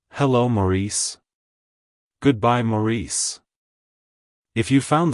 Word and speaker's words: Maurice: morius it's pronounced as Maurice Maurice Maurice to pronounce it correctly emphasize the first syllable Ma and the second Sy able re like hello Maurice goodbye Maurice if you